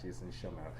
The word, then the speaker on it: Schemmel: Did I do it correctly? I like to make sure names are pronounced. Yep. correct. Yep. Jason Schemmel. You said it different. Schemmel. Yes. There we go. Jason Schemmel.